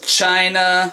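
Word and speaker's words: ち: This one is chi as in cheese. As in uh Oh, what's something that has a chi in it? Cheese. China. Well, chi ch like the ch sound.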